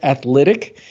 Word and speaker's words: Athlytic: a recurring field and this is called athletic but it's spelled a t h l y t i c and you could do